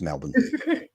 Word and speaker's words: Melbourne: It's just Melbourne. It just has to be. I'm sorry. It's just Melbourne.